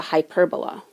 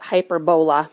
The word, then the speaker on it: hyperbola: is actually called a hyperbola and some people pronounce a hyper bola but hyperbola and they're characterized of